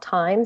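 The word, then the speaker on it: Tyme: And Gab, my uh my tool of the week is an app called Time, spelled like the herb.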